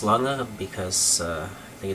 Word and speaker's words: Lange: It's not pronounced Lange, it doesn't rhyme with range, it's Lange because I think it's a Dutch name or something.